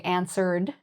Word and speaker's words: answered: So answer ends in an R sound, so we would say answered.